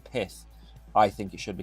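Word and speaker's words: Pyth: Pith, which I've apparently been told I pronounce it Pi. It's Pith.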